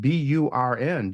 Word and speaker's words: Byrne: So Johnny Byrne, that's Beirne, but you can pronounce it Burn.